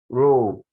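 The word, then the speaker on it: rho: another great example and that's how we pronounce rule r h o so we have to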